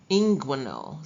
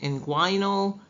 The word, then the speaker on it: inguinal: Inguinal. Some people pronounce it inguinal.